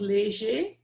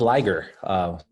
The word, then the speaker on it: Leger: And I appreciate you saying my name properly, like Pharrell says. Usually we hear the Liger.